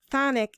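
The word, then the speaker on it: chthonic: cult of the black cube are connected to phonic entities i had to look up the word phonic it's spelled c-h-t-h-o-n-i-c the definition of that word is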